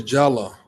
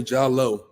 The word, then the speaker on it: Jalloh: me out here yeah so it's Jala Jala okay all right all right Jal but some people say jalo yeah like okay all right I won't go with what I was getting ready to say h it's pronounced jalo in certain countries like in The Gambia they spell it with